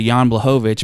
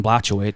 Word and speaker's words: Blachowicz: so you get to Jan blahovich but if you go back to our early episodes before I even gave him the respect of saying his name right you probably call him John blachowich Sean say say Glover's